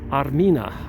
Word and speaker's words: Armina: Armenia used to be pronounced or said Armina. Armina is the ancient name for Armenia, and that's why many Armenian women are named at birth Armenia.